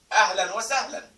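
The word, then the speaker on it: أهلا وسهلا: And this is actually very popular when you say to somebody, Ahlan wa sahlan. Ahlan wa sahlan.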